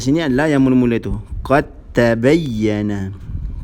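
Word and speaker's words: قَدْ تَبَيَّنَ: Qad tabayyana. Qad tabayyana. Cara bacaan dia macam mana? Memasukkan huruf pertama yang mati ke dalam huruf kedua yang berbaris. Sehingga menjadi satu huruf yang bertanda tasydid.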